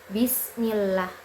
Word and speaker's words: Bismillah: Contohnya pada lafaz Bismillah. Bismillah. Cara prakteknya itu yang pertama, lidah jangan diangkat terlalu tinggi. Posisi mulut lebih santai.